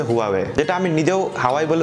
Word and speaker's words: Huawei: হুয়া একটা Chinese brand যেটাকে অনেকেই হাওয়াই হওয়াই বলতে পছন্দ করি বাট এটা একচুয়ালি উচ্চারণ হচ্ছে huawie যেটা আমি নিজেও বলে